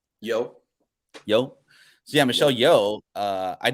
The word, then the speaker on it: Yeoh: Yeoh.